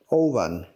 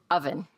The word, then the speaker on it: oven: Oven.